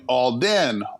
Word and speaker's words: Olden: so in my ear I'm hearing all then all then I'm not hearing the H so I just started